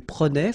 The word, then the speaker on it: prenait: Je prenais, tu prenais, il prenait, final T not pronounced, so the same form, okay, and then plural, as I said, prenait as well.